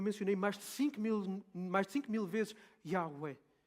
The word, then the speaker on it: Yahweh: Mas os estudiosos dizem que, muito provavelmente, a forma correta de se pronunciar o nome de Deus é Yahweh.